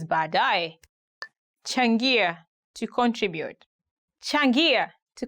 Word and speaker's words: baadaye: Today we are going to look at 10 hardest words to pronounce in Swahili. Baadaye, later.